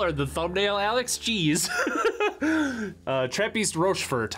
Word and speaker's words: Trappistes Rochefort: Trappistes Rochefort, I think is how it's pronounced in the Belgian.